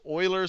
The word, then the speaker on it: Euler: I * sin of X and this is Oiler formula I always pronounce I'm right over here and this right